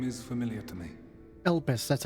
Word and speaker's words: Elpis: us yes the name is familiar to me elpis that's how you say it okay i know